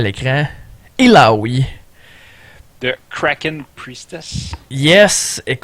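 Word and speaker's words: Illaoi: La façon dont il faut prononcer le nom, c'est il a Ioui. Ça fait du sens mais vous pouvez l'avoir à l'écran. Iloui de cracken priestess.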